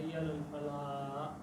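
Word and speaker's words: حي على الفلاح: علی الفلاح کہتے ہیں وہ آخر میں ہا نہیں بولتے، وہ سیدھا ہی کہتے ہیں حی علی الفلاح، بس ایسے ہی ختم کرتے ہیں۔ جیسے قاری حضرات آخر میں ہا بولتے ہیں، ان کا تلفظ ٹھیک نہیں ہے۔ اس آدمی کے بارے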